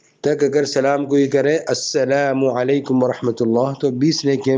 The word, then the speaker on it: السلام علیکم: اور بعض لوگ جو ہے سلام کا لام ادا نہیں کرتے، تو وہ جب لام ادا نہیں کریں گے تو سام ہو جائے گا، اس کا معنی ہوتا ہے نعوذ باللہ موت کے معنی میں ہوتا ہے.